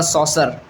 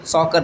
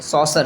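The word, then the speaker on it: saucer: Somebody corrected me ऑन द सॉसर। Mahanadi का जो delta है वह सॉस शेप में है। सॉकर नहीं सॉसर शेप में।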